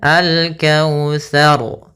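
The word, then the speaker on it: الكوثر: lafal taa ini hati-hati jangan sampai kita membacanya dengan syin maaf syin atau dengan Syar gitu ya atau dengan Sar gitu dengan sin dia harus daripada huruf tsa tsa makhrajnya ujung lidah kita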